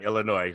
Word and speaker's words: Illinois: Illinois currently and and the S is silent on Illinois.